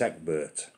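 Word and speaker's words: Ecgbert: The first archbishop was Egbert, E-C-G-B-E-R-T. Not too bothered how you spell it, but it's Egbert.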